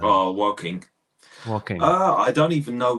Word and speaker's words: Woking: How do you pronounce that first name? Oh, Woking.